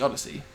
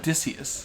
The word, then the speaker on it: Odyssey: read Yeah by yeah I call it the Odyssey but you can pronounce it incorrectly if you want I'm sure I will what did you call it adicus adicus the Odyssey the I think adicus is